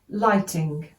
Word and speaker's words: lighting: Despite, DSPT, extensive, take the top off the N, lighting, LT-ing, GH is silent, remember in lighting, no GH.